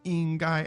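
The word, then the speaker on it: 应该: So it's 应该, and that's the first and the first again.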